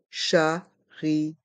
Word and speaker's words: chariot: voyageuse le chariot le charot les voyelles I et o se prononcent ensemble et font le son io le Chario le T de charot est mué le charot le ch les